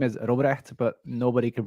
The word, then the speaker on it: Robrecht: My full name is Robrecht, but nobody can pronounce that, so most people just call me Rob.